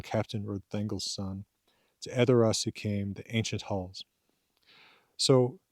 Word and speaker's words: Edoras: And by the way, then also Edoras would be, uh, pronounced so with the emphasis on on on the e, not on Saidoras, but Edoras.